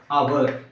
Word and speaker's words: hour: For example, our. Here H is silent, the immediate second letter is vowel letter and it gives the pronunciation of vowel A.